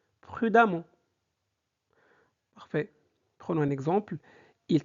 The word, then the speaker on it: prudemment: Ça se prononce amant, donc ça donne prudemment.